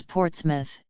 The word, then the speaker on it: Portsmouth: He pronounces Portsmouth, as the British do, with the emphasis on the first syllable, not the last, as most outsiders might.